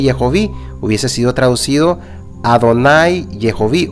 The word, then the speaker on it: Jehová: del nombre Elohim y aquí ya no dice Jehová sino yovi Je hovi es diferente de Jehová Entonces si Jehová fuera